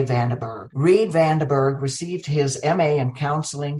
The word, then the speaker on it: Vanderburgh: I'm going to have the joy of pronouncing it in Dutch. Reid Vanderburgh. We would say Vanderburgh. Reid Vanderburgh received his MA in counseling psychology from John F.